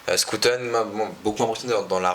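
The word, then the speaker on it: Schouten: Mais moi, il y en a un qui m'a beaucoup impressionné, c'est Scooten, pardon. Faut prononcer à la néerlandaise. Scooten m'a beaucoup impressionné dans la relance, dans sa vision de jeu.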